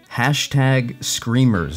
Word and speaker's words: #Screamers: He's also an award-winning actor, producer, public speaker, and he also recently starred in the film #Screamers. Is that how you say it? Do you say the hashtag? Yes, you do say the hashtag, yes.